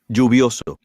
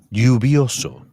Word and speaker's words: lluvioso: You may notice that the pronunciation of Elle. is different in the various Spanish-speaking countries. You may hear it pronounced as J, for example, Lluvioso. or as Y, for example. Lluvioso. In Argentina and Uruguay, you may hear it pronounced as SH, for example.